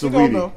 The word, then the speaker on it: Saweetie: But you know, do you know how to pronounce Saweetie though? I don't. Don't do that to her. It's Saweetie. It is Saweetie.